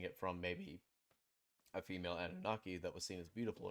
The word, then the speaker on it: Anunnaki: Imagine like you're saying Anubis. Anu. Anubis. You're like making Anunnaki. Anubis. Yeah. Anunnaki.